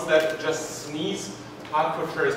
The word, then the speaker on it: Hertfordshire: Hertfordshire is pronounced Hertfordshire.